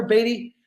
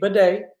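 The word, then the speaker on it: Badie: around eight you got Tyler batty excuse me Beday he recently changed the pronunciation of his last name he did it wasn't that we were all mispronouncing it he has changed it to Beday there's a story there involving family he said he would expand on later but it's Tyler Beday now now he needs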